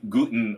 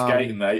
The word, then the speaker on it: Guyton: I know it's Guyton. I said it. I knew it once I said it. It was wrong.